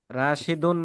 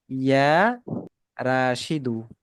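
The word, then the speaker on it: يا راشدُ: রাশিদুন না, আমরা কিন্তু আগেই পড়ে এসেছি আগের বইয়ে যে ইয়া যখন কোনো শব্দের শুরুতে আসে, তখন ওই শব্দের শেষে কি হয়? তানবিন হয় না, এক পেশ হবে। ঠিক আছে, ইয়া রাশিদু।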